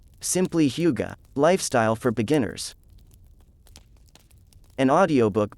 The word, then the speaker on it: hygge: Simply Hygge, Lifestyle for Beginners. An audiobook by Lina Lykke. What is Hygge? In the spirit of winter, it seems only appropriate to discuss Hygge.